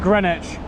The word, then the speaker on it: Greenwich: spell both woolich and greenwich it's very confusing because the w is for some reason not pronounced an even name and